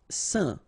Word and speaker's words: saint: Saint. Alright, so final T not pronounced, and then when you combine this A-I-N here, you get the un sound.